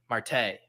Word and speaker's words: Marte: Marte.